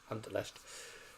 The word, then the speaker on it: Anderlecht: Or Anderlecht, however they're pronounced. Anderlecht. That's the sort of German way of saying it.